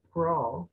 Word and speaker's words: crawl: Acuérdense, acabamos de aprender que la A y la U se pronuncia como una O. En algunos casos, o au, ¿verdad? En el caso de crawl, ¿verdad? Entonces, en ese caso, el sonido más común es la O, ¿verdad?